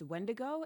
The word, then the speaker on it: Wetiko: I don't know if you've ever heard of the concept of Wetiko. You may have heard it pronounced Wendigo, and it means a cannibal or someone suffering from insatiable greed.